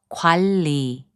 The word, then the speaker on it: 관리: And 관리, which means management, is pronounced as 관리.